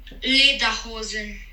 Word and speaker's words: Lederhosen: Vamos escutar corretamente a pronúncia em alemão. Dirndl. Traje feminino. Dirndl. E agora o traje masculino. Lederhosen.